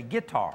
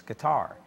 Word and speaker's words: guitar: Now, if I was country, I'd say guitar. That's right. But the the correct pronunciation is with the accent on the last syllable. So, it's guitar.